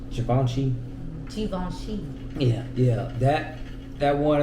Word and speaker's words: Givenchy: Givenchy uh -huh yeah or well am I pronouncing it right I think it's Givenchy yeah yeah that that one is like man